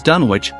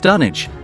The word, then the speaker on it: Dunwich: name is pronounced as Dunwich, Lovecraft, being an avid Anglophile, often named towns in his work after English locations. In this case, Dunwich, located in Suffolk, England, is actually pronounced as Dunwich.